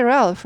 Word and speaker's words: Ralph: 10분의 1박자 Ralph. 한국말로 쓰면 안 되지만 이해를 돕기 위해서 한국말로 쓴다 그랬어요. 영어 발음 한국말로 쓰지 마세요.